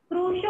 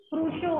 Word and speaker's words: Crusoe: क्रूशो होगा, कितनी बार बता रही मैं, तब भी आप रॉन्ग प्रोनाउंसिएशन कर रहे हैं। क्रूशो होगा।